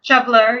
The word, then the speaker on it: shoveler: you got the northern shov how do you pronounce that shoveler shoveler yep I've never heard that name but you